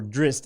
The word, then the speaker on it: Drizzt: Or Drist, as they pronounce it in the game, but still Drizzt to me.